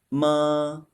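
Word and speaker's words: 妈: Finally, let's compare two characters having very close pronunciations. One is the character for horse, 马, the third tone. The other is ma, the first tone. It means mom.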